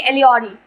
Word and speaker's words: allegory: I mean to से एलिगोरी, better to say allegory.